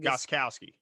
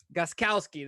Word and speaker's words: Gostkowski: Is that Steven Gostowski? How do you say it? Gostkowski. Gostkowski. There you go.